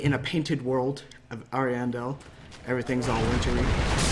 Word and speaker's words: Ariandel: And we're here to review the Dark Souls 3 DLC, Ashes of Ariandel.